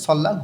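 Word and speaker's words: 설날: সানামদূর মানুষজনেরা বা লোকজনেরা এর পরে নিউন আছে দুইটাই লই লাল উচ্চারণ হবে সল্লা নববর্ষ ইনা বা অথবা নববর্ষ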